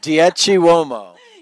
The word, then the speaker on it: Dieci Uomo: Dieci Uomo.